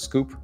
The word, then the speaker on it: SKWP: It's SKWP, pronounced Scoop, SKWP.